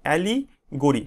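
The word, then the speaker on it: allegory: অ্যালিগোরি মানে কি, রূপক ধর্মী রচনা, অ্যালিগোরি, ঠিক আছে? এইভাবে উচ্চারণ করবে, অ্যালিগোরি, অ্যালিগোরি, অ্যালিগোরি মানে হচ্ছে রূপক ধর্মী রচনা, story in which idea R symbolised as people, ঠিক আছে?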